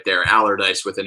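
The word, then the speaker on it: Allardice: It's Allardyce, and it's named after James Allardyce, who founded the distillery in 1826.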